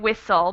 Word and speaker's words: whistle: We have a silent T here, and even though there's not really a vowel, we do sort of pronounce the schwa. Whistle. Oh. We kind of have that schwa sound right before the L instead of the T, I guess.